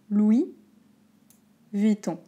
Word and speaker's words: Louis Vuitton: bien écoutez bien je vais vous aider à prononcer attention non mais écoutez louis louis vitton louis oui mais comme me comme oui et